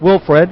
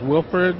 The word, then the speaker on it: Wilford: Here with Wilfred, and I'll let him pronounce his last name. Like you said, my first name is Wilford.